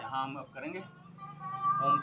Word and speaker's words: ओम: यहाँ हम अब करेंगे ओम का उच्चारण। ओ अ म। ओ में इनहेल करेंगे, अ में होल्ड करेंगे और म में एक्सेल करेंगे।